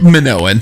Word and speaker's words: Minoan: closed I said it right what is it Minoan Minoans yeah anyone's going to say it wrong